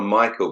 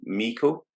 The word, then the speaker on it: Meikle: me mentioning, but Lizzie, I want to call her Michael, but then she told me it's not Michael. Meikle? Lizzie Meikle? I think that's how you pronounce it, yeah. Yeah, I keep wanting to call her Michael, but it's definitely Lizzie Meikle.